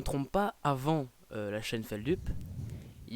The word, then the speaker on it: Feldup: Alors officiellement, ça se prononce Feldup. Ok. De base, c'est de là que ça vient, voilà. Mais les gens anglicisent le truc et donnent Feldup.